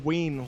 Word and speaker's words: Ween: Oh, it's pronounced ween, like the hot dog. Ween, okay. like wiener.